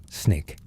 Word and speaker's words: SNCC: The students organized themselves into the Student Nonviolent Coordinating Committee, SNCC, pronounced SNIK.